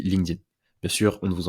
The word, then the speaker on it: LinkedIn: prononce à l'anglais a donc ça se dit linkedin mais sûre on ne